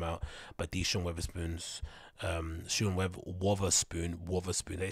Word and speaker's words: Wotherspoon: But these Sean Wotherspoons, Wotherspoon, they say his name, Wotherspoon, right?